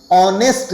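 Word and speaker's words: honest: ऑनेस्ट man always regarded ऑनेस्ट कहते हैं इसे इसका ह साइलेंट होता है ऑनेस्ट के साथ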